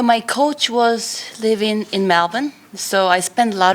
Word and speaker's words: Melbourne: You pronounced Melbourne correctly. Melbourne. Y'all.